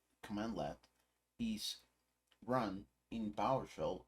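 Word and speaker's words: cmdlet: data as plain text instead when a cmdl pronounced command L is run in power shell it returns objects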